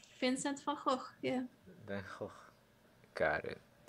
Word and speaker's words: Van Gogh: And I had trouble pronunciation of Van Gogh, or that's like how and then I was like, I will just do my Dutch pronunciation. Vincent van Gogh, yeah.